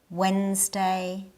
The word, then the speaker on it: Wednesday: In these, the D is silent. Wednesday, sandwich, handsome.